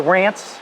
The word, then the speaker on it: Ranc: And when they came through Ellis Island, my name never got an E put on the back of it to pronounce it Rance.